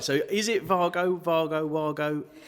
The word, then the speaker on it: Wago: is it vargo vargo wago because it's a german company it's fargo like volkswagen so they pronounce their v's and their w's differently sorry so it is